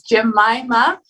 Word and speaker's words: Jemima: yeah anyway um uh did i pronounce your name accordingly well you're pretty close to pronouncing it correctly can you pronounce it correctly so that i can follow all right so it's jemima and i didn't i